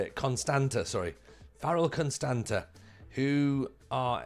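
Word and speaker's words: Constanța: Constanta? I need to learn how to say it. Constanta, sorry.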